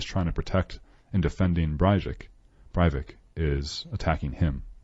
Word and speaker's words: Breivik: It's Breivik.